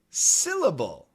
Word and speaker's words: syllable: And then there's the word syllable. SYLLABLE. And here, the SY sounds like si, like an SI, syllable.